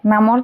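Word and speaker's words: know: তাৰপিছত দিয়া আছে নো, কে উচ্চাৰণ সাইলেন্ট হৈ আছে।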